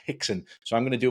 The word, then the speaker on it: Rickson: number one learn that an R is apparently pronounced as an H in Brazilian Portuguese so while it's written as rexen apparently it's pronounced hixen so I'm going to